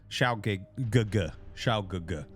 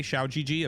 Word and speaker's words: Xiao Gugu: We have Art User, Xiao Gugu. They tell, if you say Xiao GG, apparently that means like penis or something in Chinese. So you really have to pronounce it correctly.